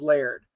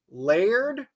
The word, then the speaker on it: Laird: there and he goes my name's Laird layered like that Laird one syllable layered and they keep